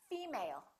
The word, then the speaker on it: female: you say female or did you say female once again it's the first one female let's look at the